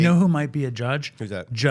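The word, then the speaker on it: Judd: You know who might be a judge? Who's that? Judge Appattow. Get Okay, I got to get to work. But I think it's pronounced Jud.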